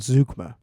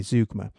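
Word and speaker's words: zeugma: Now, this is an example of what's called zukma, which is spelled zu g a zu gm a zukma. It's a German word.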